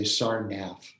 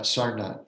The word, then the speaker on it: Sarnath: There's no th sound in Sanskrit. So Americans tend to say Sarnath, but Sarnath is the pronunciation.